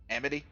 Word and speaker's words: Amity: were at M uh pronunciation officer Amity Amity thank you my brain was just struggling with it and I'm not sure why like the Amityville Horror yeah like I said